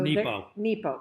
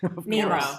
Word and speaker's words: Nepo: So Nepo. Mark Nepo. Did I say it wrong? Nemo. I said Nemo.